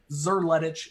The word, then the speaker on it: Szerletich: easier if you just ignore that there is an s in front of the z and pronounce it with a hard z zer ledge is how i like